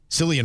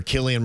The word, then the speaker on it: Cillian: Cillian Murphy, or Killian Murphy, however you want to pronounce it, he is back as Tommy Shelby.